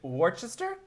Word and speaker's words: Worcester: Is it Worcester? I tried. Try it again. Try it again. Worcester. Worcester, yeah. Worcester. I mean, it's spelled Worcestershire, but it's just Worcester.